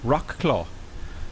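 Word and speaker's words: Wrocław: got a rock law Rock law equals War clothes is pronounced Rock claw okay cool woohoo says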